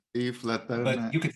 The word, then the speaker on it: Yves Leterme: Well, it's a French name actually, although I speak Dutch. I mean, the correct pronunciation would be Yves Leterme. Yves Leterme.